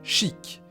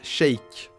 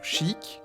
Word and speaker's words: Sheik: techniquement tort parce que c'est la prononciation la plus proche de l'original japonaise j'en appelle la synthèse vocale si c'est d'ailleurs la prononciation qu'ont adopté les anglophones en majorité et je soutiens sa malgré le fait que maintenant on est un annonceur francophone dans smash bros dans ce match 4 qu'il prononce cheick parce que non seulement